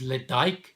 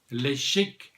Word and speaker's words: Ledaig: One would have thought that the way you pronounce it is Ledaig, but if you're on the Isle of Mull, then you pronounce it Ledaig, 19-year-old single malt from Scotland.